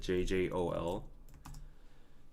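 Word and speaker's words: 쫄: You pronounce it JJOL.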